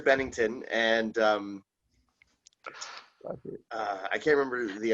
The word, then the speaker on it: Bennington: He called him Barrington. Yeah, it's Chester Bennington and I can't remember the other names.